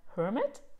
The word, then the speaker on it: Hermit: And the Hermit is about, I always don't know if you speak the H or you don't speak it, because in German it is Eremit. So in English, Hermit, I say it like this.